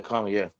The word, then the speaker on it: Kamala: Black women not voting for Kamala or Kamala. Yeah, Kamala.